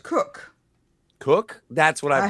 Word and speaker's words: Koch: Koch, Koch, Christina Koch. Yeah, is I've heard it pronounced Cook.